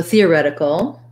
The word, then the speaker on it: theoretical: um so theoretical uh we have stress on the rep syllable theoretical um so there's a red tent vowel there theoretical this t becomes more like a d it's a flap because it's between the two vowels and it's not followed by a stressed syllable and then we have